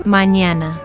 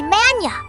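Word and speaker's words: mañana: When you say mñana which means tomorrow you don't you say mana with a clear separation you blend it smoothly mñana manñana mñana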